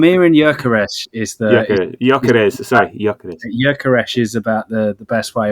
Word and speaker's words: Gyökeres: So the fact that we did sign a player was the news around Gyökeres.